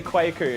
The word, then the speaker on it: Kwaku: I think you'll find it's pronounced Kweku. It's definitely Kwaku, and if you want to have a problem with that, you can take it up with Kwaku.